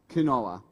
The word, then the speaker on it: quinoa: saying, I'm going to make a quinoa salad. And I was corrected that it's quinoa. But then I was corrected once again by Jen saying it can also be pronounced quinoa.